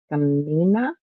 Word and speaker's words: Skamania: the county is the name of the county is spelled s k a m a m i a Skamania County, Washington.